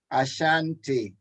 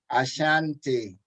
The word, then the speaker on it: Ashanti: say them along with my dad as we pronounce these it didn't cry eating crown ashanti ashanti akua akua fante fante cawano pado caguano pado